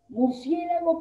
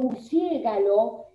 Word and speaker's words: murciélago: correcto de estas palabras entonces murciélago por murciégalo y vagabundo por vaga mundo por la cual la